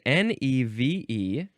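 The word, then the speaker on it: névé: The synonym, I need to look up how to pronounce this one. It is neve, neve. It is N-E-V-E, and there are accents on the E's, both of them.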